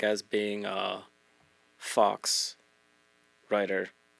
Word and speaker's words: faux: like as being a fox writer is that how you say it f a ux I think it's Fox oh faux writer why has it got an X in there I don't know I